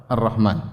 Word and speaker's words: Ar-Rahman: Jangan dibaca alif lam ra ha mim nun, ya, jangan. Ya, jangan sampai salah baca alif lam ra ha mim nun, salah. Ini bacanya apa? Ar-Rahman, ya.